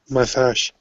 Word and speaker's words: massage: So that symbol looks like the number 3 is like a j sound, like in the word measure. It's like a j sound. Measure, massage.